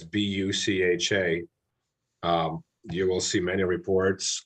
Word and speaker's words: Bucha: You know, if you look at Bucha and the territories that have been liberated by the Ukrainians from the Russian invasion, it's Bucha.